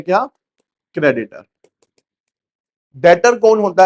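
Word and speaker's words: debtor: B silent है, डेटर बोला जाता है। क्या बोलते हैं? डेटर, ठीक है। डेप्टर नहीं बोलना किसी ने भी, डेटर बोलना है, ठीक है।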